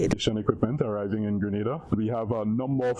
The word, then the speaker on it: Grenada: But, I heard in English it's called Grenada. Say it right. Grenada. Say "right". Grenada. That's right. Grenada. There we go. Say "right". It's Grenada. It's not Granada.